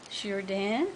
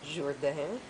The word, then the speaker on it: Jourdan: Jourdan, my grandfather's name, spelt with a U because it's Jourdan. Jourdan. And at one time there was an I after the A. Oh. Jourdan was the way it was spelled in French.